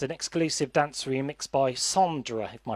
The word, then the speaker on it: Sondra: That song was accompanied by a music video and an exclusive dance remix by Sondra, if my pronunciation serves me correct. Sonda. Sondra, yes.